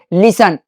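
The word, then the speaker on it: listen: लिसन।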